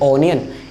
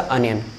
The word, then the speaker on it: onion: Don't try टू से ओनियन, इट्स अ अनियन.